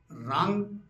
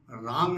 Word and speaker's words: रां: हैं मूल मंत्र भगवान राम का यही है रांग रामाय नम राम नहीं है वो रा आग मात्रा ऊपर बिंदी लगी हुई उसका उच्चारण राम नहीं है रांग है जैसे गंग गणपते नम